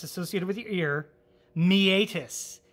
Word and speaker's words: meatus: associated with your ear, meatus. It's spelled like meet us, as in M-E-A-T-U-S, meatus.